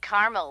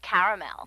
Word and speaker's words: caramel: I said Tina actually you said Carmel when it's pronounced caramel can't we just call